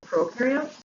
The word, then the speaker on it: prokaryote: We have prokaryotes and eukaryotes. Remember, bacteria is the only thing that is a prokaryote. So prokaryotes are bacteria. Now remember, pro rhymes with no because prokaryotes have no nucleus and no membrane-bound organelles.